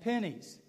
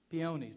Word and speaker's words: peonies: they were irises and pennies peonies depending on how you pronounce them and i can remember